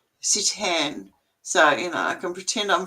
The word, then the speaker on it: seitan: Oh, and by the way, it's spelled Seitan. Yeah, Sitan.